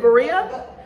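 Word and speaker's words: birria: Berea? Berea. Berea. Berea. Yes. No. The R wrong. Berea taco. No. Why you say it like that? You stretching it.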